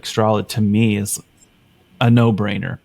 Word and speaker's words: Strolid: And Strolid, although it sounds like a straw that you drink through and a lid on top of, it's spelled STROLID because it's strong and solid.